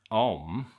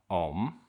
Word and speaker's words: Om: And om although it's written with three letters is pronounced with two sounds.